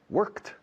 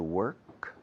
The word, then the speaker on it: work: going today hasta luego foreign to work worked worked very easy job it's a very easy job